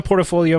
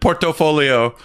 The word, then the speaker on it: portfolio: didn't either up but you're the only person I've ever heard it pronounced it portofolio well hey come on yeah you're right portfolio is correct my brain sometimes reads